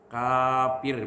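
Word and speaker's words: كافر: menghalalkan maksiat itu kafir kafir bacanya Alif kafnya supaya jelasah ya kalau bakal Nah jadi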